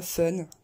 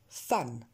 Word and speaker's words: fun: Vous avez tendance à la prononcer E cette fois, fun, enfin un espèce de E bizarre, fun, jungle, et ça n'est pas ça. Ça sera fun, jungle.